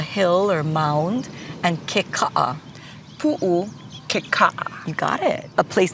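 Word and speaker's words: Puʻu Kekaʻa: Pu'ukeka'a. Yeah, so pu'u, which is our word for like a hill or mound, and keka'a. Pu'ukeka'a.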